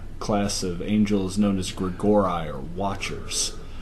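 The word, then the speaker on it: Grigori: of angels known as Greg or I or Watchers I thought that was pronounced Grigory you know it might and once again not an expert on Latin pronunciation never mind I gotta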